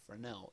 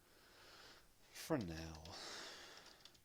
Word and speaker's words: Fresnel: Because Fresnel is cool. Fresnel. For years and years I pronounced this as Fresnel.